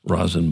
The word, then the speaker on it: Rosin: She is the artistic director and CEO of the Rosin Box um project. Did I pronounce that correctly? Yes, you did. Good. As in rosin, as in rosin bag.